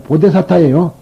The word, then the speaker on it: 보리살타: 근데 이 보리살타가 아니에요. 보데사타예요. 보데사타. 그런데 이제, 우리나라에서만 이걸 보리라고 읽습니다.